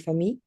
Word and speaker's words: famille: informelle, je peux dire famille. famille, oui, mais le double L, c'est comme le fille, comme en anglais, comme ça.